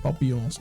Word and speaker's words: Papillons: Let's go to the 4Ks now, and it's an 4K remake of Papillons, or Papillons, however you want. I'm pronouncing it in French Papillon.